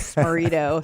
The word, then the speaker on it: Smaritto: life that's all right my last name is sperito so people you know I'm just like I always just say it rhymes with Dorito or burrito and what you can